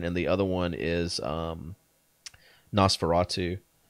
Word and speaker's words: NOS4A2: One of them is The Fireman, and the other one is Nosferatu. But it's spelled where it's like NOS4A2.